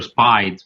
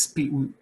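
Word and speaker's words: SPID: And I mean, I don't know if you pronounce it Speed or Spied, but It's Speed. I mean, yeah, we usually pronounce it Speed. Speed, yeah, same thing in Italy, because it sounds like speed with double E, but it's actually something else.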